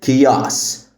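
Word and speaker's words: chaos: بام عندنا كمان كلمه كياس فوضى كياس هنا الاتش سايلنت والسي بتتنطق كي فبنقول كياس كياس كياس عندنا كمان كلمه افن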